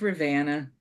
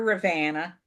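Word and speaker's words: Ravenna: this pattern is published this is Rana um which is how we say it up here Rana uh if you're trying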